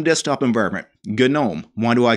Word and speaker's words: GNOME: supposed to be pronounced so silent g why don't you just call it gnome well you can if